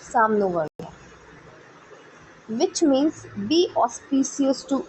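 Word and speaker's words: Sham no Varunah: The emblem of the Indian navy contains the motto साम नो वरुणा, pronounced Sam no Varuna, which means be auspicious to us, O Varun.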